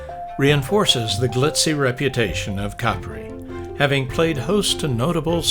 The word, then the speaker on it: Capri: The locals say Capri, which takes all the romance out of the name Capri, but I will bow to the local pronunciation.